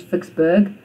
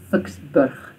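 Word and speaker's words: Ficksburg: We say in English Vicksburg, but in Afrikaans Vicksburg.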